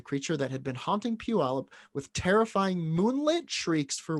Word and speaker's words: Puyallup: i'd like to be proud of myself for pronouncing puyallup correctly thank you adam p in the zoo